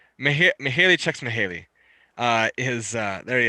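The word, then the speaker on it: Mihaly Csikszentmihalyi: is this really look that's a mouthful to pronounce yeah it's haley checks mahali uh his uh there he is he's obviously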